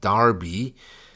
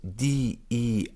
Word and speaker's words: Derby: If you think of a name, like one city in the UK is called Derby, but it's spelled D-E-R-B-Y, which should technically be Derby.